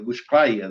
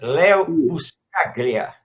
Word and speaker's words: Leo Buscaglia: nosso amigo lá, é dos Estados Unidos, do Buscaia, né? Eu pronuncio muito o nome. Ele é italiano, quer dizer, ítalo-americano, Leo Buscaglia.